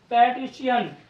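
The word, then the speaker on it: pediatrician: बच्चों के डॉक्टर को कहते हैं पैडियट्रिशियन। तो स्पेलिंग लिखेंगे पीई, पैडियट्रिशियन, ट्रीशियन। मैंने यहाँ स्पेलिंग लिख दी है, पीडियाट्रिशियन। 3 भागों में बोलेंगे। पैडियट्रिशियन ऐसे मिला के एक साथ बोल सकते हैं, पीडियाट्रिशियन, बच्चों का डॉक्टर।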